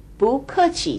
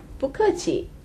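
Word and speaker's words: 不客气: If someone says 谢谢 to you, you can also say 不客气 to them. Let's try this pronunciation. 谢谢. 不客气.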